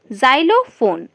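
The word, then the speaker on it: xylophone: ওয়াই এল ও পি এইচ ও এন ই জাইলোফোন এর উচ্চারণটা হবে জাইলোফোন জাইলোফোন হচ্ছে এক ধরনের বাদ্যযন্ত্র এর পাশে আছে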